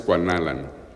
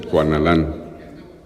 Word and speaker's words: Cuanalan: O sea, originalmente es Cuanalan, pero ahora todo el mundo dice Cuanalán. ¿Perdón? Sí, pero no se acentúa.